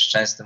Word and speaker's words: Szczęsny: na przykład to, że Anglicy mieli problemy wymawiać Szczęsny, mówili Czesny, no to powinniśmy się, nie wiem, oburzać, że dlaczego nie nauczyliście się Szczęsny.